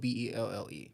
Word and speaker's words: Belle: So Belle, Bell, is spelled this way in the U.S., but in France it's spelled Belle. Oh, It's still okay. pronounced Belle.